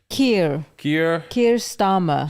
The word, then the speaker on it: Keir Starmer: His name is Keir Starmer.